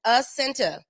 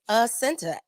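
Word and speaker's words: Jacinta: i n c a my j is silent it doesn't make an h it doesn't make a y it doesn't make a y nothing it's just a center i blame my mother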